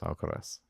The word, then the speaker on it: Alcaraz: I don't think you can look past world number 1, Carlos Alcaraz. Is that how you pronounce his name?